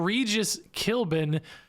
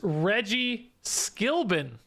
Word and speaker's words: Skilbin: It's not Regis Kilbin, it's Reggie Skilbin.